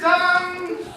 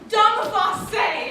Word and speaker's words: Dumface: Dumb? commonly mispronounced, actually. It's Dumface, an old Schmartic name.